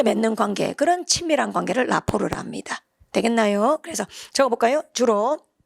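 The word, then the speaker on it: rapport: 그 다음 오른쪽에 있는 단어도 발음대로 많이 읽어버립니다. 라포르 이렇게 혹시 들어봤나요? 라포르.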